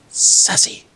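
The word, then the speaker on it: Sasse: Joshua, how do you pronounce his last name? Is it Sace? Sassy.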